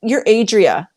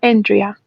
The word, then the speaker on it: Andrea: And now you're Adria. Is how you say your name correct, or am I wrong? Yeah, it's Andrea.